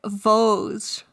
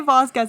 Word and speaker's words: Vosges: I think it's like Vosges. Vosges. Vosges. So we don't say Vasquez anymore. It's Vosges.